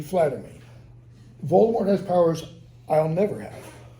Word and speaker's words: Voldemort: be frightened of saying Voldemort's name or Voldemort as JK Rowling says it she pronounces it in the French fashion he says I know